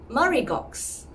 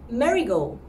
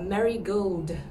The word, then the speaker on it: Marigaux: almost like the flower marigold so this is how i would pronounce it the first syllable sounds like mother ma ma all right and for the last syllable we don't pronounce the x actually so it's something like